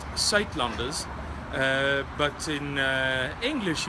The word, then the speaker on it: Suidlanders: again where to find more information okay it's pronounced sat lunders uh but in uh English you would probably pronounce it something like SE Landers and this is how you spell it s